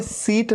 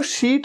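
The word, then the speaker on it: sheet: इसे सीट नहीं कहना, सीट नहीं, सीट तो वो होता है SEAT, सीट, कि इस सीट में आप बैठ जाइए, वो सीट है। ये तो शीट है, शीट, बेडशीट।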